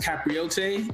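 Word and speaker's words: capirote: outside of the KKK, I believe it's pronounced Capriote, you know, the Catholics and the Spaniards wore these hoods as well in unison and brotherhood.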